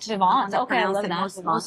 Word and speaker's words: Vivant: So it starts off with, there's this magazine, Vivint or something like that? Yes, Vivant. Vivant. Okay, I love that. Most sophisticated pronunciation.